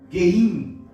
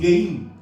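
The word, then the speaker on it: גים: o Mem Sufit, que tem a pronúncia de Geim. Fala assim, Geim.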